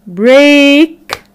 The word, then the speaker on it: break: has three different sounds the third the sound is when we have the e a letter pattern when we have the e a letter pattern making the sound of the long vowel sound a a like in break great steak okay so let's answer